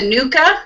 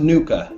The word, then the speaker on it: NUCCA: is it just a nuka or is it just it's pronounced nauka yes Nuka practitioner working in